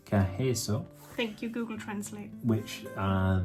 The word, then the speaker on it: Carreço: Yeah, something Carreço, I think it's pronounced something like just that. Just a minute. Hang on. Carreço. Carreço.